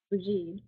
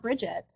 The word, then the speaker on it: Brigid: I'm going to say Brigid, but you can say Brigid, or however you want to pronounce her name. It should start with a B. There's no terrible pronunciation. It's not Bridget. I've heard that. That's not what that is. Don't do that. But Brigid and Brigid are the two pronunciations that you hear.